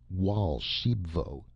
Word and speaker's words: Raoul Archambaud: "I caught Archambaud here," he indicated the other man, "stealing eggs from my golden goose, and—" Raoul Archambaud, pronounced Wal Shibvo, interrupted excitedly.